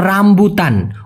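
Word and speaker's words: rambutan: হচ্ছে মালয়েশিয়ার জাতীয় ফল ডুরিয়ান ডুরিয়ান আরেকটা হল রামবুতান অনেকে উচ্চারণ করে রামবুতান মানে উচ্চারণ করে যেহেতু এখানে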